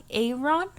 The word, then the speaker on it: Aron: And I found the skull guy, Aaron? Aaron? Is that how you say it? Yeah. Because it's not Aaron. No, it's like Iron, but Aaron. With an A.